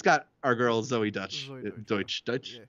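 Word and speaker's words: Deutch: It's got our girl Zoe Deutsch. Deutsch. Yeah. I always mispronounce it, even though it's Dutch, and I know it's Dutch.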